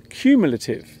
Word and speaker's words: cumulative: The word is cumulative. The first syllable of this word sounds like the letter Q.